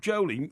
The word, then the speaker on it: Jolie: Jacob Jolie has done this research into his name is pronounced Jolly.